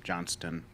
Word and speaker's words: Johnson: It's pronounced, but not in the spelling of my name. Johnston.